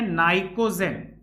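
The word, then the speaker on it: pnictogen: ये हमारे पास वर्ग 15 को कहते हैं नाइकोजेन। अब जैसा कि कुछ बच्चे इंग्लिश वाले भी होंगे तो देखना पी से स्टार्ट होगा, पी यहां साइलेंट होता है।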